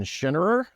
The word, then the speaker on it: Schinnerer: episode number 21 we're here with Dr schenerer right that's that's the proper pronunciation uh Dr has a PHD and